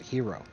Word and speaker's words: gyro: you're saying the Greeks pronounce it gyro they pronounce it hero hero step okay the hero Stone that's even